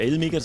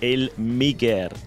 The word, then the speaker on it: Elmiger: J'insiste qu'on prononce mon nom, non pas "Elmiger" mais "El-Miguère".